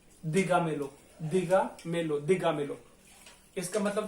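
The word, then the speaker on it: dígamelo: अब इसमें जो शब्दों का उच्चारण है वो पढ़ के देखिए, दी गा मे लो, ठीक है, दी गा मे लो, एक एक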